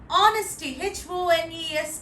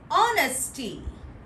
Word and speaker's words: honesty: Honesty, Honesty. H is silent. We are ought to pronounce A, not Ha, as H is silent. Honesty.